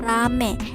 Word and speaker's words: ramai: Contoh katanya seperti kata ramai diucapkan rame.